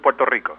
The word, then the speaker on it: Puerto Rico: If you can roll the R's, brother, go with Puerto Rico.